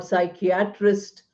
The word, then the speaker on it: psychiatrist: Any word associated with psychology, like psychiatry, or psychiatrist, or psychologist, or psychoanalyst, are all words which have P silent.